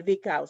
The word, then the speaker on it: Lvikao: It's not Li, it's Lvi, Lvi.